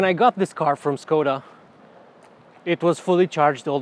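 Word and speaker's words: Škoda: brand name is actually skoda because it has this little thing on top of the s and that's how you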